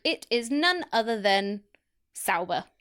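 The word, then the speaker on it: Sauber: is none other than saber Saba what that am I saying it right Saba Saba s a u b e oh saber yes yes sber beautiful only fifth time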